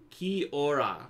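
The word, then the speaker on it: kia ora: says yeah you're correct it is Maori language it's pronounced key aura key aura means hello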